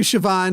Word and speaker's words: Siobhan: there not a but you say a V and you're like where the there's not an H this way there's not